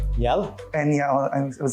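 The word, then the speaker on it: eñe: Enya is how you say it, of course, but it's the tilde.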